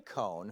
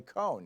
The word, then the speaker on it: Cohn: he referred to him as Michael Cohen, one syllable. Now, Roy Cohn, whose name was spelled C-O-H-N, was the notorious